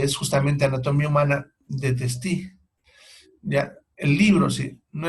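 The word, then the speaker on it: Testut: doctor Testi Morishita, que por si acaso en los libros se escribe Testú, pero se lee Testi.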